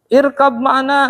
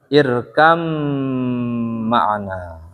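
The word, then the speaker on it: اركب معنا: Nah ini bacanya bukan irkab ma'ana, tapi bacanya gimana? Irkam ma'ana. Kenapa begitu? Kenapa? Ini nih, satu dia. Jadi nggak ada alasan untuk jangan irkab ma'ana, tapi irkam ma'ana. Ya, irkam ma'ana. Nggak irkab ma'ana gitu.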